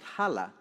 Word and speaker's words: HALA: Recently, here in Houston, the Latino artists founded a group called HALA, the Houston Association of Latino Arts. It rhymes with pull in Spanish, jalar, you know.